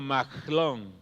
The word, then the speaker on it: Mahlón: Malón, que debía de haberse pronunciado algo así como Mahlón.